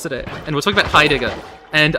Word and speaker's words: Heidegger: On topic of arcane, I was in class today, and we're talking about Heidegger. And I straight up said Heidegger's name wrong. I said Heidinger, and the lady next